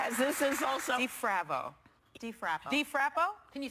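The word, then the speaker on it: Difrabo: DeFravo? As this is also... DeFravo. DeFrappo. DeFrappo? Can you spell it? Yeah. DeFravo. DeFrabo. Okay. Spell it.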